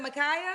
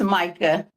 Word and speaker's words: Micah: Is it Micaia? How you say it again? No, it's Micah. It's Micah, man.